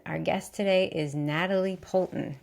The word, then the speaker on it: Poulton: And our guest today is Natalie Poulton. Did I pronounce that correctly, your last name? You did, yes.